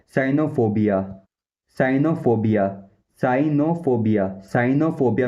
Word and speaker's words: cynophobia: और जो scientific meaning होता है उसमें होता है साइनोफोबिया।